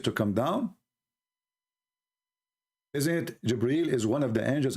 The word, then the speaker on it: Jibreel: It's not Gabriel, by the way, it's Jibreel.